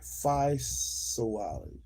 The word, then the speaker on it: physiology: Physiology. Physiology. Physiology. Where's the P? P-H. P-H balance. Philosophy. Physiology. I am pronouncing it right. Physiology. Physiogony. No wonder I am pronouncing it wrong. Physiology, not phi.